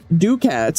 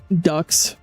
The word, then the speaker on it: ducat: Yeah, but I don't have ducats. I got 19 ducats. Rookie numbers, you gotta pump those numbers up. Ducks.